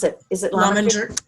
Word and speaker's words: Lominger: Pat is certified in, I'm going to say this is Lominger. Please correct me if it's wrong, Pat. Lominger Career. And is it, how do you pronounce it? Is it Lominger? Lominger.